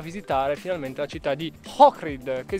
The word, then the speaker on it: Ohrid: finalmente la città di Ohrid, che si scrive con l'H ma si legge col cr o H-R-I-D. Giusto, sì, perché hai detto Ohrid invece Ohrid. Ohrid. Vabbè, si legge con la C.